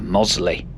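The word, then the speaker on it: Mossley: In an earlier video, a commenter pointed out that this place is pronounced Mosley. So, here we are at Mosley.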